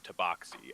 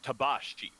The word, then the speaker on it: tabaxi: the the phrase the the term tabaxi as you usually hear it in common uh tabashi is the way it should be pronounced that should tell you